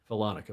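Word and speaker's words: Follonica: shores of the Gulf of, how do you pronounce that? Falonica? Falonica, well done.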